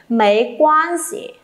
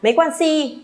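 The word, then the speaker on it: 没关系: Mấy quan gì? Thanh nhẹ nhá, thanh nhẹ cho tôi các bạn ơi, đừng đọc là mấy quan si, nhỏ nghe nó sẽ không hay, kém sang.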